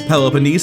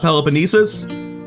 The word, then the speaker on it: Peloponnese: Athens out of the Peloponnese for real this time, which apparently is Peloponnese and not Peloponnesus, and I am heartbroken by this.